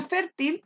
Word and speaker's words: fértil: tema de tiempo la palabra fértil tiene dos sílabas donde se carga la voz enferma es decir la penúltima y como se cargan la penúltima sílaba es una palabra grave ya vamos y llevando